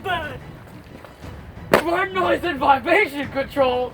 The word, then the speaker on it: BRD: I think it's pronounced bird.